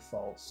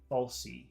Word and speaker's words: false: said false reaction but she was pronouncing the e at the end of false and she was saying falsy reaction but it's not falsey just in case you want to know it's false no e false uh uh reaction and